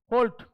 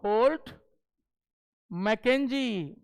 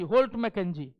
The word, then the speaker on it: Holt: होल्ट, HOLT, होल्ट मैकेंजी, सब देख लो spelling, मैकेंजी, होल्ट मैकेंजी, ठीक है, इट इज नॉट हॉल्ट मैकेंजी, इसलिए होल्ट मैकेंजी।